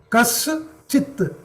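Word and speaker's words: कश्चित्: Kas Chit. Sha. Shankara Sha plus Cha plus E. Correct? Sha. Sh plus Ch plus E plus T. Kaschit. So here you pronounce ta as half. Kaschit.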